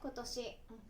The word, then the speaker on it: 今年: Một cách đọc đặc biệt khác của chữ Kanji cho "今" là vẽ "今年" và đọc nó là "kotoshi."